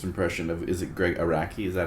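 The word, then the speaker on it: Araki: of Is it Greg Iraqi? Is that how we're saying that? I think that's right. I could be wrong. I'd say that it is a R a K Iraqi.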